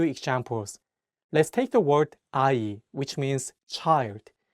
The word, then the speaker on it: 아이: Let's take the word 아이, which means child. In this word, the ieung in each syllable works as a placeholder and only the vowels are pronounced.